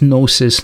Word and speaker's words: gnosis: gnosis, by the way, this gnosis, Gnostic with the silent G in the beginning, this is the same word that we have the word knowledge today with K-N-O-W, and this is G-N-O.